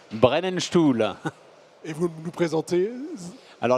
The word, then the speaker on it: Brennenstuhl: Christian, vous êtes responsable grand compte d'une société au nom imprononçable que je vais vous laisser prononcer. Brennenstuhl.